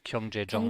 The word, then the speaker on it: 경제적: that's why it's Gyeongjejong.